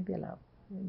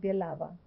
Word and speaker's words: Bielawa: And from Katowice, we went to Langi Bielaw. And then my husband, with a partner, opened a store.